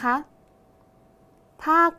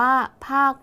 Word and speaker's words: ภาค: อีก ครั้ง นะ คะ ภาค รัฐ อ่าน ว่า ภาค รัฐ นัก เรียน สังเกต คำ ว่า ภาค คำ ว่า ภาค มี ค ควาย เป็น ตัว สะกด แต่ ออก เสียง พยัญชนะ ท้าย เหมือน เสียง ก ไก่ ใช่ ไหม คะ ดัง